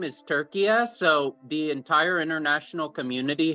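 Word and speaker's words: Türkiye: it's three syllables then, not two. Yeah, you do pronounce that little dangling vowel.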